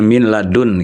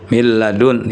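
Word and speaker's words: من لدن: Ada huruf lam ya min ladun gitu ya. Ya. Min dengan lam ya bukan min ladu mil ya. Jadi bunyi nun sukun itu digabung ke lam tapi dia bila ghunah tidak diiringi dengan dengung.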